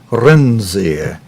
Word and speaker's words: Renzi: And friends, as you heard Gavin Hewitt pronounce it, that new Prime Minister, let's see, how did he pronounce that name? He pronounced it Mr. Renzi.